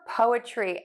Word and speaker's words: poetry: Now for poetry, everybody's favorite, the schwa sound is in the middle of this word. To say the schwa syllable, this syllable is going to be super short, the shortest syllable in the word, and you are just going to say the sound, super relaxed mouth, super short vowel, and then end with the word tree.